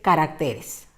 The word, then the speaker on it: caracteres: error pero veamos otras observa la palabra carácter evidentemente en la primera columna carácter tiene una tilde y ya te estoy señalando qué es la pronunciación pero también la escritura correcta ahora bien su plural observa que no tiene tilde por tanto como buena palabra del grupo del 7 el plural de carácter es caracteres hasta ahí creo que